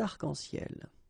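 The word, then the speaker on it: arcs-en-ciel: Okay, you can see that as usual, we don't really pronounce this final S, so phonetically it's almost the same, but then we've got this liaison between the two, des arc-en-ciel. Okay, second situation, un nom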